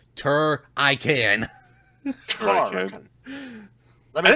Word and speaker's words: Turrican: No, you gotta roll the R's. Turrican.